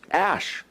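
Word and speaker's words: אש: the word fire it's our word ash it's pronounced ash which is what you get from fire then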